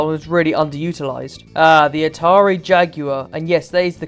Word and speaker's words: Atari Jaguar: The Atari Jaguar, and yes, that is the correct way to pronounce it.